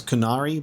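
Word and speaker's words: Qunari: canary so I guess I just go Kun it's kunari but he says like there's a bit more of a difference in pronunciation of that join me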